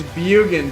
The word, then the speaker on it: Bjugan: dare say it wrong it's bugan drop the j okay norwegian and by